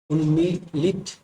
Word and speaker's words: उन्मीलित: उन्मीलित, उन्मलित, उन्मीलित, उन्मीलित, इनमें से सही क्या है, ये देखिए। सही उच्चारण बोले हैं तो सही उच्चारण हो जाएगा उन्मिलित, ये वाला।